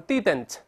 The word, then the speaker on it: didn't: 你注意，这个美国老师读成 didn't。Didn't 没有读成 didn't，第二个的是鼻腔爆破。